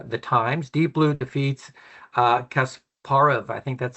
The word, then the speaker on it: Kasparov: Deep Blue defeats Kasparov. I think that's how you pronounce it. I mean, my can maybe help me out with the pronunciation there. Uh, Kasparov. yeah, Kasparov.